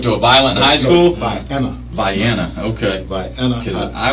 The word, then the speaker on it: Vienna: How do you spell it? VIENNA. See, I thought you said violent high, like you went to a violent high school. Vienna.